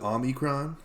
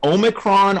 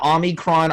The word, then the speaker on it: omicron: the the omicron variant and it was pronounced with omnicron i think well a lot of people pronounce it differently it's omicron omicron i'm i'm not a